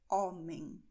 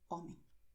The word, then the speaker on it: homem: Mas a letra H, sozinha aqui, ela tem o som de nada, ou seja, ela é uma letra que ela é muda. Portanto, você dirá homem, ok?